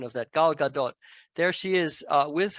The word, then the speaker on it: Gal Gadot: is Wonder Woman I had to check the pronunciation of that Gal Gadot there she is uh with her very lovely